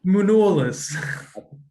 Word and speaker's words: Manolis: Manolis. Okay. What do you think I said? Munolis. That's how you pronounce it. That's the Greek pronunciation.